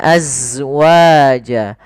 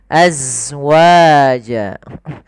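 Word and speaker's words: أزواجا: Kemudian pelafal az, ini alirkan nafasnya, azwaja, azwaja. Bukan alirkan, ya, sifat zai. Zai itu termasuk sifat jahar, yaitu nafas tertahan, tertahan, tapi mengalir suaranya, az.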